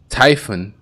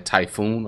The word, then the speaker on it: Typhon: okay typhon typhon and i realize in other gameplays that i was saying typhoon a lot and i knew i was saying it wrong but i just it just was a habit you see t-y-p-h-o-n you think typhoon right but it's typhon typhon pit um tall drop-off